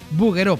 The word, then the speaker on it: Bouguereau: La lección hoy es buguero porque se pronuncia así a pesar de que se escribe en francés.